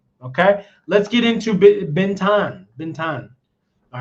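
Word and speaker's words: Bến Thành: Okay, let's get into Ben Bentan. Ben. All right. Or they like to say bentang. Okay. Ben. And so that's how they say it here.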